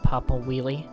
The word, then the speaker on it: Papa Wiele: The Crag's name is pronounced Papa Wiele.